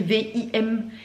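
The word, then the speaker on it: Vimle: canapé de la gamme alors ça se dit film ça s'écrit vim V i m l e voilà je pense qu'on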